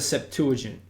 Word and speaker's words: Septuagint: It's got one word called the Septuagint. That's how it's said, that's how it's spelled, all right?